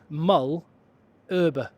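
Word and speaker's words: Malherbe: And I just got the pronunciation. It's Frans Mullerber.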